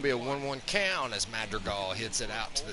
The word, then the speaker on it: Madrigal: As Nick Madrigal, that's how you pronounce that, comes in here.